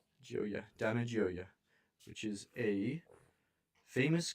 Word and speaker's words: Gioia: however you say I don't know how to pronounce that string of vowels Joya Dana which is a famous contemporary American poet.